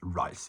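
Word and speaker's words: Reiss: hello or like um this is rice I will not say Reese because the German pronunciation of that brand is rice so anybody that says Reese sorry let's go to war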